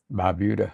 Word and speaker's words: Barbuda: Barbuda.